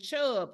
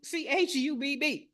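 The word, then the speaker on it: Chubb: you say it uh C a AIG and chub that's c h u BB so not the chub you're thinking of get your mind out of the gutter chub CU c h u BB all right now the third category commercial property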